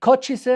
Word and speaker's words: Košice: As we start the story of your youth growing up in Košice, I believe it's pronounced? Yes. Hungary? I was born in Košice and became Kasha, Hungary.